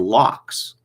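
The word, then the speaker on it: locs: like braids twists and locks as opposed to buns can anyone tell me what a lock is it's spelled l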